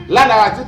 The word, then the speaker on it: anabaptisme: que l'on appelle l'anabaptisme l'anabtis comme ça se prononce a n A B a P t i s m e et bien son doctrine